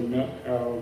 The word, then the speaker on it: Methow: They all say Meathow now, and it's important that it's two syllables without a TH sound.